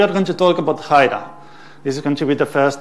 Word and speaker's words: Hiera: it wrong is that you say hi-de-hi not Hira it's not the era is hyda and this is said but they're the own developers of puppet so it's not me it's Haida okay so now that we know how to